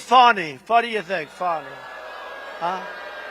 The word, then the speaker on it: Fani: What do you think, Fani? Huh? F-A-N-I. That's pronounced Fanny, but you're not allowed to say it. It's Fani. Oh, boy, oh, boy.